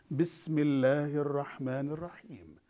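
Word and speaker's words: بسم الله الرحمن الرحيم: Here is the pronunciation of this one. Bismillahir Rahmanir Rahim.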